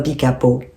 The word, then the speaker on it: Pica-Pau: Évidemment, on dit Pica-Pau, no Pica-Pau. C'est comme Caou, Caou. Vous voyez, là, en espagnol, on prononce toujours tous les voyelles, en fait.